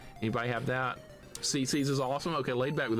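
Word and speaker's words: CiCi's: CeCe's. It's spelled CI. Anybody have that? CC's is awesome.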